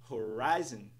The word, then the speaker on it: horizon: tipo Horizon Horizon Horizon nada disso pessoal estresse na segunda sílaba Horizon Horizon por fim temos a